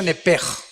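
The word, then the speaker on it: נפש: Digo, por favor, esta palabra alma en el original hebreo es la palabra nepes. Apúntala como suena nepesh con sh se pronuncia nepej.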